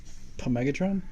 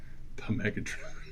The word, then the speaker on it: Megatron: The P is silent, by the way. Megatron?